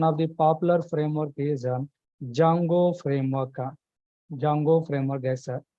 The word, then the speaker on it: Django: the popular framework is Jango framework Jango framework yes here D is silent guys not Django just we are pronouncing like Jango we are pronouncing like